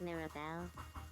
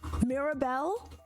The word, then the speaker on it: Mirabel: My name is Mirabel. Mirabel. Mirabel. Do we like that? I think I feel like she said it better that time. My name is Mirabel.